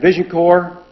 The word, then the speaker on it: VisionCorps: organization called vision and vision core is spelled like Peace Corps only vision core and